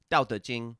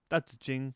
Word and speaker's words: Tao Te Ching: In Chinese, it's pronounced Tao Te Ching. Tao Te Ching.